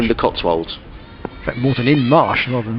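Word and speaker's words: Moreton-in-Marsh: You pronounce it Morton in the Marsh. Morton in the Marsh. In the Cotswolds. In fact, Morton in Marsh rather than Morton in the Marsh.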